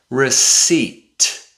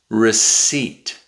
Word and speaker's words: receipt: receipt receipt There's no sound. The P is silent.